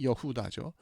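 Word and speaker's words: יהודה: 레아가 넷째 아들인 유다 히브리 발음은 여다죠.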